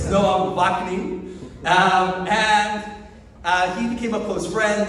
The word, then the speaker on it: Ouaknine: Noam, you may have seen on your program guide, but I'm sure none of you know how to pronounce the last name. It's Noam Ouaknine.